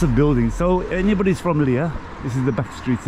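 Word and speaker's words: Lija: How do we pronounce that? L-I-A. Lear.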